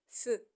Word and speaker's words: faisons: c'est faisons faisons regarder si ça s'écrit faisons mais ça se lit feu faisant faisant donc c'est